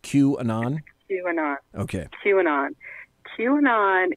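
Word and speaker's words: QAnon: who or what is Queen on okay is that what it's how it's pronounced Q and on okay chewing on chewing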